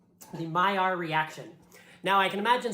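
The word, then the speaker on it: Maillard: saying that clearly says male allard but this word is french and my sources tell me that in france people pronounce this word my r and it's not just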